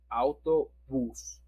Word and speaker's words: autobús: Autobús. Autobús. Okay. And remember, if you could find the accent, it's because you have to pronounce it stronger.